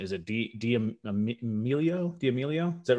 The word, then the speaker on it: D'Amelio: Let me see if I can pronounce the last name. Is it D'Amelio?